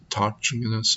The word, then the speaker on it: autochthonous: I looked up how to pronounce this word because it's like autochthonous.